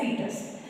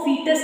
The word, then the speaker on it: foetus: महीने बाद हम उसको फीटस कहना स्टार्ट कर देते हैं, FOETUS, फीटस। इसका ओ साइलेंट होता है, हम इसको लिखते हैं FOETUS, फीटस।